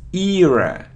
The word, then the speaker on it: era: it's a opinion opinion it isn't eror or era no it's era ER era so you see e ear